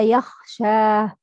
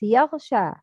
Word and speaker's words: يغشى: But the wrong is confused with غين with خا. والليل إذا يخشى. يخشى, no, wrong. It's يغشى. يغ, not يخ.